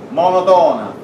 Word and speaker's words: monotona: A con n si dice monotona. L'accento va sulla seconda O, sulla terza O, monotona.